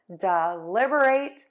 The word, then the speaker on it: deliberate: So when you say it quickly, you are going to stress syllable two and syllable four. dɪˈlɪbərət.